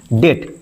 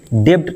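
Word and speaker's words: debt: डी ई बी टी इसको पढ़ते हैं डेट। डेप्ड नहीं पढ़ते हैं क्योंकि यहां पे बी साइलेंट होता है।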